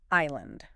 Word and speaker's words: island: How about island? I S L A N D. Ooh, good one. This one feels extra sneaky, doesn't it? Yeah, that S right there after the I.